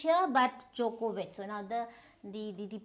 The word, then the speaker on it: Djokovic: So this is Djokovic, which means this, you don't need the D, Djokovic. So this, there is no H here but Djokovic.